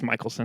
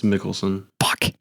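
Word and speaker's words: Mikkelsen: I think it's Michaelelsson. It's Mickelson.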